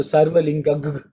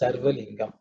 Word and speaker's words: Sarva Lingam: So Sarva Lingag, some people would say Sarva Lingag Stapayati. That's the way they would pronounce it. So whatever suits, I don't want to get into the debate, but however you are taught, you just follow that. But the real word is Sarva Lingam.